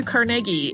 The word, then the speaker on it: Carnegie: go with carnegi because that sounds the closest to the way uh his family seems to pronounce it uh so I might